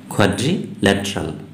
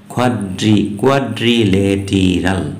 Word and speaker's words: quadrilateral: উচ্চারণটা একটু খেয়াল করতে হবে, কি উচ্চারণটি হচ্ছে কোয়াড্রিল্যাটারাল। অনেকে বলে কোয়াড্রিলেটেরাল, না, এটা ভুল উচ্চারণ। কি উচ্চারণটা হবে খেয়াল করো, কোয়াড্রিল্যাটারাল।